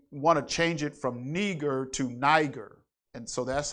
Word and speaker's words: Niger: was called neger and some people say that's not how you pronounce it it's pronounced neger well how do you